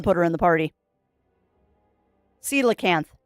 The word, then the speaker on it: coelacanth: Coelacanth is how you pronounce that. Does not look like it's how it's spelled, but it is pronounced coelacanth.